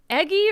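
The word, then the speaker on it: Eguy: the fourth inning um eggy Rosario I love his name I did not know how to pronounce the statement until I saw it e g u y eggy they were they were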